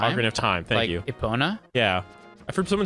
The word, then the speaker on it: Epona: Ocarina of Time hundred of time Thank You Epona yeah I've heard someone say apana and that